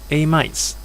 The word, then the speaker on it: amide: Amides. In fact, this word here is pronounced as amide. People always mispronounce the E. It's actually a silent E, so it should be amide.